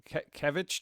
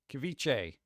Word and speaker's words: ceviche: Kevich day. Kev, what is that? Kevich. Kevich. See? Kevich. Ceviche.